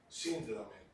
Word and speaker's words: síndrome: Lo mismo que lo correcto es decir síndrome y no síndrome.